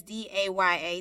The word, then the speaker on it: Daya: choc ro n so our first name is da y a daya and then suraíh and say Rai last